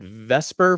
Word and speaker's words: VSEPR: so uh vsepr uh some people uh pronounce it vesper for some reason it's easier to say than spur i guess um so uh